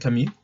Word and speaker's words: Camus: quien no lo identifique por Camus, que es la pronunciación muy francesa, fue un tipo que murió joven en un accidente automovilístico.